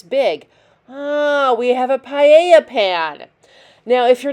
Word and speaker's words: paella: MasterChef and they say paella it's not paella double a double L's are a y sound so it's quesadilla it's